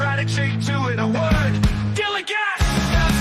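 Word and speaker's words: DILLIGAF: A word, Dilligat, that's spelled D-I-L-L-I-G-A-F, Dilligat.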